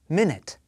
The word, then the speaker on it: minute: And the number 1 helps you remember that stress should be on the first syllable, minute.